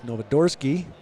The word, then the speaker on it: Novodorsky: Nicholas Novodorsky, who I'm told from the team manager, that's how you pronounce Nicholas's last name. And I hope she's right. But that's what I have to go on.